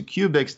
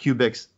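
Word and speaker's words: Qubix: a question absolutely you can always go to cubics comm now it's spelled Q B I XCOM there's no you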